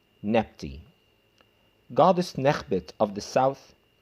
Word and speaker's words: Nebty: And to be pronounced as a dual, it becomes Nebty.